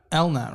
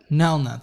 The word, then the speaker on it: Nelnet: just in and uh Elna right isn't that how it's pronounced um no net Nelnet that's right yeah it's okay um